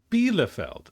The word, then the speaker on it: Bielefeld: Bielefeld. So it's an E. It's an E sound.